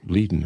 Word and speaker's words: Leiden: I said Leiden, but it's pronounced Leiden, I guess.